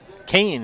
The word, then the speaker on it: Kane: crosses home plate jack kane that's how you say it kane is that how the pa announcer said it so we're going to call it kane and he hits it